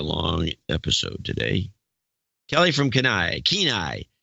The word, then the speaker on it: Kenai: media vidya Kelly from Kenai sounds like keen eye Kelly from Kenai $500 this is gonna be a long episode today Kelly from Kenai Kenai it's been a